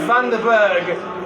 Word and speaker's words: Van den Berg: I'm not sure how popular the surname in South Africa, in Afrikaans language, Van den Berg is, but Van den Berg is the Afrikaans pronunciation.